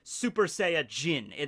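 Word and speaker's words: スーパーサイヤ人: saiyan in english right in japanese it's super saiyajin they add the jin at the end of it the kanji for person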